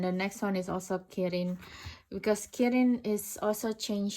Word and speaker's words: kirin: But in Japanese Kirin, in Chinese it's Qilin, and in Japanese it's become kirin.